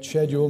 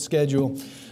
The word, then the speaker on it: schedule: of schedule and that is the way you pronounce the word by the way schedule not schedule uh though there is a schedule I typically